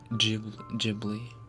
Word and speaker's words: Ghibli: Which one is correct? Ghibli with the Gabriel sound, or Ghibli with the G for gender? Technically, Ghibli is the correct pronunciation.